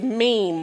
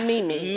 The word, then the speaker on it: meme: And just for you all who don't know, the other word that you use is meme, not Mimi.